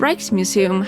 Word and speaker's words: Rijksmuseum: The Rijksmuseum (pronounced raiksmuseum) has two similar parasols dated 1840 to 1865.